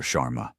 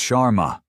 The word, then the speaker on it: Sharma: Chararma." He butchers the pronunciation of her name. Another small deliberate cut. "It's Sharma."